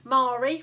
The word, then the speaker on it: Marie: a bit more memorable mari rhyming with starry and lloyd well that